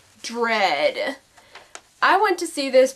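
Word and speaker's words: Dredd: on track number five rhymes with Ted dread I went to see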